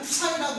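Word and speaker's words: ψ: 기호 자체는 이렇게 쓰는데, 그리스 그 기호에서 보면은 글자에서 보게 되면은 푸사이라고 읽어요.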